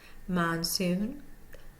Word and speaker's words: monsoon: look at Monsoon Monsoon number number two is sitting AB above the first syllable so we know that is secondary and we see the one over the last syllable so we know that is primary mansoon so we're going to hear the soon more so than the man in Monsoon number two three syllable